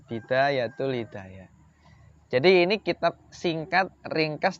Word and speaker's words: Bidayatul Hidayah: sudah tipis banget judulnya itu bidayatul Hidayah ini bacanya bidayatul Hidayah jadi ini kitab singkat ringkas tapi mendalam gitu